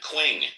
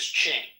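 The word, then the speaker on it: Qing: It's pronounced as Ching.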